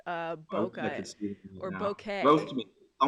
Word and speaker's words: bokeh: I will say, Forrest, there is some debate on the pronunciation of bokeh.